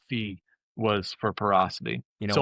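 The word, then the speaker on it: phi: Thought that was the Greek letter fee was for parocity.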